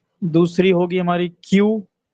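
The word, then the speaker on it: queue: दूसरी होगी हमारी क्यू, क्यू यू ई यू ई, इसका नाम ऐसा है कि क्यू छोड़ के बाकी सब साइलेंट है।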